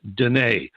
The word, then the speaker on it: Deana: it was Deanna DEA and eight but it's pronounced de neige okay so don't go trying to spell de